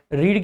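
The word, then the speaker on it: read: रीड की तीनों form दिखने में सेम रहती हैं, हालांकि प्रोनाउंसिएशन उसका रेड हो जाता है।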